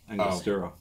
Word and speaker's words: Angostura: Angostura.